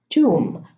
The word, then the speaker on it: tomb: So in these words, the B is not pronounced. I'm going to read them again. Thumb, bomb, climb, comb, tomb, lamb, limb, womb, debt, plumber, plumbing.